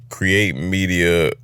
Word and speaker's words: Create8Media: It's pronounced create media cray and the Roman numerals for 8.